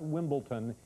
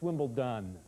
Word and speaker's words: Wimbledon: It's not Wimbledon, it's Wimbledon, okay? It's D with a D, Wimbledon.